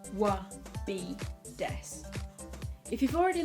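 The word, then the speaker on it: は: If you've already learned hiragana, then you'll notice that the wa is actually spelt with a hiragana character for ha, but in this case it actually reads as wa.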